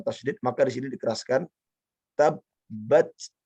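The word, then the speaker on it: تَبَّتْ: Ya, yang pertama, jika bertemu dengan tasdid, setiap kali ada huruf bertemu dengan tasdid, maka di sini dikeraskan tabbat, tabbat, bukan tabat, tapi tabbat gitu.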